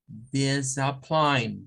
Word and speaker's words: discipline: Okay, remember, is one word with 3 syllables. The first one is the, then we have this, and then we have the schwa, and pline. In this case, discipline.